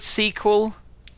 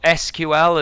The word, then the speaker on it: SQL: to search for data have you covered sequel or SQL as people that don't know how to pronounce it might say don't think so okay